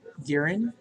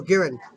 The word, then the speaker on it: Giran: Glamorous Strength, Garen. Is that how you pronounce it? Garen? Is this a... What was that? What? Garen. Oh, Giran.